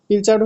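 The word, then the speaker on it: pilchard: আচ্ছা, এটার প্রোনাউন্সিয়েশন কি হবে, পিলকার্ড নাকি পিলচার্ড? পিলচার্ড হচ্ছে এমন একটা ফিশ, মানে খুব ছোট ফিশ।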